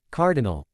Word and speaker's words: CRDL: The first team consists of Cardan Winchester, Russell Thrush, Dove Bronzewing, and Skylark forming team CRDL pronounced Cardinal led by Cardan.